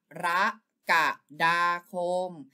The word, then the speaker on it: กรกฎาคม: ตอบ ก็ คือ ข้อ หนึ่ง ครับ อ่าน ว่า กรกฎาคม ถ้า ใคร ตอบ ข้อ นี้ ก็ ได้ 1